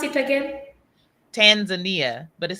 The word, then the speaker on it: Tanzania: we have been taught to call your country Tanzania but you are definitely saying it different than I am and how do you pronounce it oh Tanzania Tanzania okay I because I feel like I've been